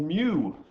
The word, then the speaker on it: mu: Josh Thiessen tells me, and his mother tells me, in Greek it's actually pronounced me, but every single online place I can find pronounces it as mu. I know she is, and I'm quite confused because literally everybody in the scientific community calls it mu.